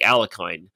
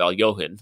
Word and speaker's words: Alekhine: Later on in this episode, we see Benny Watts even reference that she attacks like Alekhine, which of course that's the American pronunciation of Al-Johan, just for the record.